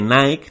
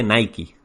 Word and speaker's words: Nike: Y de este podcast quiero que os llevéis que realmente Nike no se dice Nike, sino se dice Nike.